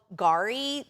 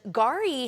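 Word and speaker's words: K'gari: It's called Gari. The K is silent. And it used to be called Fraser Island to the locals. And Gari has Kingfisher Bay Resort, which is big on ecotourism.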